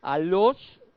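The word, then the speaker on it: ἄλλος: de esta palabra griega a los o sea se escribe como yo lo estoy pronunciando no a los sí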